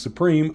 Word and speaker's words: Suprim: the MSI Supreme Liquid, even though it's it's supposed to be pronounced Supreme. I don't know why they didn't just, you know, spell it Supreme, but this is the Supreme Liquid Liquid.